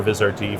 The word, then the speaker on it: Vizrt: I was at your event on Monday, and Vizrt, is that how you pronounce it? Vizrt?